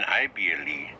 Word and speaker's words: ible: Because IBLE in Spanish is pronounced ible. Ible. Because the letter I in Spanish is always pronounced E.